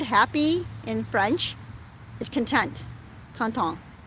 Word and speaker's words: content: in french is content canton is how they pronounce it right and at first